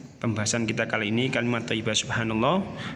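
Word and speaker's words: سبحان الله: Lafadz subhanallah terdiri dari beberapa huruf, yaitu sin, ba, ha, alif, nun, kemudian alif, lam lagi, dan kemudian yang terakhir adalah ha. Sehingga ketika dibaca menjadi subhanallah.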